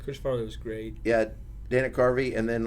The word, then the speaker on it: Dana Carvey: Mine was probably between him and Dana Carey. What's that? How you say it? Dana Carvey.